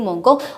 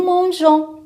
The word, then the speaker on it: mangeons: c'est faux, c'est nous mangeons. On doit ajouter quoi? Le E pour prononcer la lettre G, J. Alors nous mangeons.